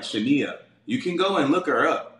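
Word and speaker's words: Shinia: the 1000 okay interrupt her name is s-h-i-n-i-a it's like pronounced like Shania you can go and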